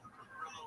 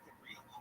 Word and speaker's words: Cabrillo: When I was growing up, it's pronounced both Cabrillo and Cabrillo. Yes, I know the Spanish pronunciation of Cabrillo. Okay? But, it's almost like saying the correct Spanish pronunciation.